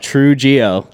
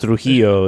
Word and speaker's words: Trujillo: ruined it it's uh it's pronounced Trujillo in in my Spanish tongue yeah but you know